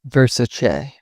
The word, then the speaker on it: Versace: People often say Versace with a hard ch. Donatella herself corrected everyone, it's Versace.